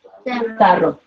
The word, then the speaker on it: tarro: To get a rolled R sound, I add a second one. Okay. So I could take this same one. And how would I pronounce it this word? Tarro.